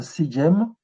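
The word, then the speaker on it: sḏm: Donc, le terme sejem va se vocaliser sejem, mais en le translittérant, on va pas mettre des E muets.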